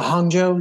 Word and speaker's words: Hangzhou: I'm gonna say is it I'm I'm gonna pronounce it wrong is it um Hangzhou is that right yeah Hangzhou yeah I did say it okay and yeah